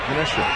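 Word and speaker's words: Menasha: a fellow chees head I'm talking about from Minasha Wisconsin pass ball high one and two did I pronounce that right manesa yeah you're right you got it manesha never heard of it but you got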